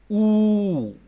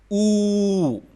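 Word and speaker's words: ऊ: Oo. Oo. And it is pronounced like double O in room.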